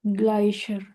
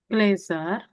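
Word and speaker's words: Gläser: di glacier. Glazer bacanya. Glacier.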